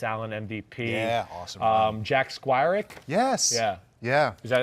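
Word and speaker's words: Jack Squirek: raiders victory marcus allen mvp yeah awesome um jack squirrik yes yeah yeah is that i pronounce it the right way nailed it bam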